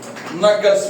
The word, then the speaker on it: knuckles: ये आपको मोर प्रोमिनेंट होगा, पिगमेंटेशन मोर प्रोमिनेंट होगा आपका नकल्स पे, ये KNUCKLES, के साइलेंट है, नकल, ये आपके नकल्स